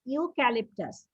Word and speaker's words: eucalyptus: এই যে আমি আবার আন্ডারলাইন করছি, EUCALYP, ক্যালিপ, TUS, EUCALYP, ক্যালিপ, TUS, eucalyptus. Eucalyptus leaves are poisonous to most of the animals.